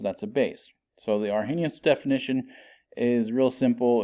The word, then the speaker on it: Arrhenius: definition here it says that you pronounce it Arrhenius I've always learned it as our Hennis I don't know anyway